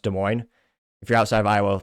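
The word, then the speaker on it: Des Moines: factor if you're from Iowa you know it's pronounced de mo if you're outside of Iowa people mispronounce it calling it desines which fun fact today I suppose and this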